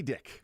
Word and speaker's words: Dick: any actually nope because if it's just DIC there's no uh vowel after that c that's going to be pronounced uh it's like a Bic lighter Grady dick yep still the same